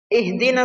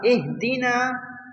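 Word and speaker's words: اهدنا: Ihdina siratal mustaqim. The ha in ihdina should be pronounced from the inner part of the throat.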